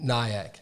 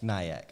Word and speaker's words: Nyack: outside Manhattan okay yeah how you pronounce that say that again Nyack Nyack okay well you thought it was like New York I didn't know I